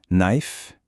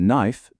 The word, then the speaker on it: knife: Quand un mot commence par KN, on oublie le K, on attaque directement la prononciation avec le son du N.